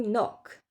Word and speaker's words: knock: Le K N en début de mot, on ne prononce pas du tout le cas, il ne sert à rien. Knife to know, to knock.